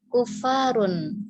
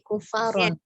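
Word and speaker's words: كفارا: Kemudian kalau saya nggak salah dengar ya, tadi Bunda bacanya kufarun, ya bukan kufarun tapi kufaron.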